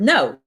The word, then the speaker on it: know: Some silent letters you probably know, like the words um well, yeah, like the word no, right? K N O W we don't pronounce uh the wrist uh it starts with W but we don't pronounce it.